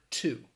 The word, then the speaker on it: to: And instead of pronouncing it to, overwhelmingly in the United States, people will pronounce it that schwa sound, t. So instead of saying to, say t.